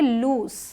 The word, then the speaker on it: loose: Z sound मतलब इसे हम पढ़ेंगे लूज, ज, और ये जो है LOOSE, इसे हम पढ़ेंगे लूज। क्लियर, S साउंड है यहाँ पे, दोनों में साउंड में फ़र्क है।